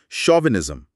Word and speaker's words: chauvinism: शोविनिज्म। Spelling है सी एच ए यू वी आई एन आई एस एम।